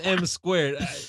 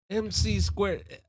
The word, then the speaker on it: M Squared: Well, I'm M squared. Believe it or not, every you know, I get I get they mispronounce it all the MC squared. I'm like, "M squared." MC squared No, M squared.